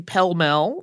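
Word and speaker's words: pell mell: is by that time calling the pelmel that's the yard used to play the game and it's spelled the way it sounds p-e-l-l-m-e-l-l and the area that's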